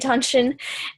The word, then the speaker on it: Dantian: There's a lot of different ways to spell it because it is a transliteration of a Chinese word, or 2 words, I don't know, but you basically say it Dantian, and we're working on the Dantian centers.